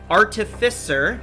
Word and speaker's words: artificer: today we have d who plays our human artificer morag that word always throws me off i